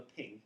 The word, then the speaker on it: PNG: And the PNG file or the ping as it gets called is brilliant because you